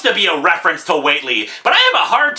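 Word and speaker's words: Whateley: who the hell is Whatley well apparently Watley pronounced weightly is actually a character from HP lovecraft's the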